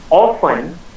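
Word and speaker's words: often: अच्छा अच्छा always it means हमेशा, समटाइम कभी कभी, ऑफन अक्सर या अच्छा प्रायः। कहाँ से है वो? टी साइलेंट मोड पर है, ध्यान दीजिएगा।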